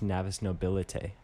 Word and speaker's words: Navis Nobilite: So I actually listened to an audiobook a little while ago, and it's pronounced Navis Nobilite Yeah. instead of Navis.